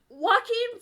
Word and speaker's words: Joaquin: Jaquan Phoenix in like water. Joaquin Phoenix.